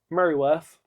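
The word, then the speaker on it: Mereworth: Merryworth. Merryworth. Merryworth. Where's the Y?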